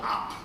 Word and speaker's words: Opp: town in Alabama called Opp. spelled O-P-P. So I said to the guy, how come you had to have two P's? The guy said, well, first P is silent.